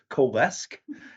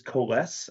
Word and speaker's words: Coalesce: to use Kass so so anyway the correct pronunciation some people have said KES but it really is KES and that's the the idea of kind of